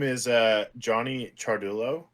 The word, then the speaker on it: Ciardullo: is uh Johnny Chulo for those of you that don't know how to pronounce my last name charul that would be me yeah it's it's Italian so just like cha is spelled that's how it's said CH uh Chulo I play in a